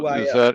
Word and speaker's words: Marquis: How do you say his name? Oh, Marquis. is that Crazy Cat?